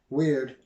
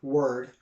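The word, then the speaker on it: wyrd: have their god uh weird or word both pronouncing it pronunciation pronunciations are correct w-y-r-d and it's just the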